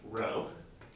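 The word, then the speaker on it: ρ: get those confused with each other this is pronounced row now the density is the mass over the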